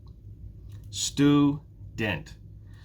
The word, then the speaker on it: student: Student. Now, which one is stressed? Student. It's the first syllable.